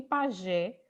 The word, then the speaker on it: pajé: E você, Estela, saber, por exemplo, que pajé, Gé, é a sílaba mais forte da palavra.